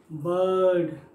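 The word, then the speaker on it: bird: ऐसा आ पूरा बर्ड बर्ड उस तरीके से। बर्ड बर्ड उस तरीके का जहां आर टाइप का उच्चारण आ रहा हो, बर्ड तो पढ़ते नहीं है वो र छुप जाता है, बर्ड उस तरीके से।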